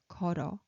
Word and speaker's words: 걸어: This 걸 bottom consonant moves over to top, so it's easier to pronounce 걸어 instead of pronouncing 걸.